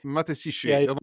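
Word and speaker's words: Matashichi: mat basically sounds like matashi it sounds like matashi but it's matesi matashi a lot of times they just kind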